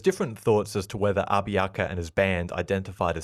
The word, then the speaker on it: Abiaka: learned about him was abiaka it's often spelled many different ways but I'll be pronouncing it as a b i a k a abiaka also known by his